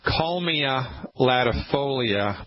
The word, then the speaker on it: Kalmia latifolia: First I'll say it and then I'll spell it. It's called Kalmia latifolia.